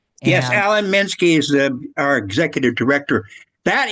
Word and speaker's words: Alan Minsky: Yes, Alan Minsky is our executive director.